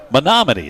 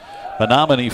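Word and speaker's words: Menomonee: junior from oh boy men mini false Wisconsin monoman that's how it's pronounced yeah monoman Falls Wisconsin first pitch is ball one well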